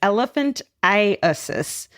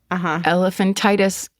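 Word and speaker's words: elephantiasis: It's elephantis, which causes part of the body become grossly enlarged due to a lymphatic blockage. We've been pronouncing Elephant Titus incorrectly for hundreds of years.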